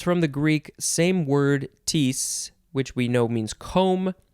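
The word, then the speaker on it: kteis: is from the greek i guess you would pronounce it tees maybe but it is spelled k t e i s it's hard enough to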